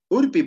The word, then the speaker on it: urpi: Aquí, urpi. Urpi, por ejemplo, no hay ja. No hay ja. Entonces, como es no hay ja, normal, urpi es la pronunciación. Tal como está escrito.